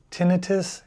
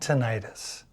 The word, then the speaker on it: tinnitus: There are two correct pronunciations, tinitus and tonitis. If you pronounce it tinitus, that's typically how the academic community says it. And then tonitis is how most of the general public says it.